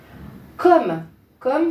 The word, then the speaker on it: comme: Comme ça s'écrit avec 2 M. Faut pas oublier, hein. Sinon, ça n'irait pas, sinon on prononcerait comme, d'ailleurs.